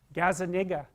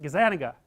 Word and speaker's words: Gazzaniga: gives at Gaza Nick I don't know how to say his name Gaza that's wrong is that Gazzaniga yeah I think that's it anyways he did some